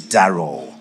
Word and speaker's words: Darroll: I am just a a little correction he had my first name pronounced I'm sure he's not familiar with that name the name is darl darl thank you very much